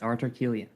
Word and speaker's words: Artur Kiulian: And I believe it's pronounced Artur Kiulian. Did I get that correct? Thank you for having me. Yes, Artur Kiulian.